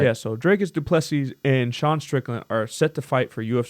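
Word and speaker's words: Dricus du Plessis: this so D how do you say it draus dupes yeah you said it right yeah so drus duples and Sean Strickland are set to fight for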